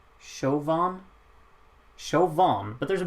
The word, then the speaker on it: Siobhan: voter Shi boham that's how you pronounce it shuvorn shovan Chauvin but there's a b in it I'm so confused anyway 12 points of the United Kingdom there Siobhan is pronounced Shivan that's so that's trippy it was like with